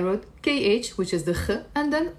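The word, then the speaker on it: خ: So, if you know how to pronounce the kha, you're one step closer to pronouncing Arabic in the correct way.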